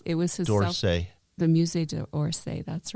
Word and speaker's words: Musée d'Orsay: The Musée d'Orsay, that's right.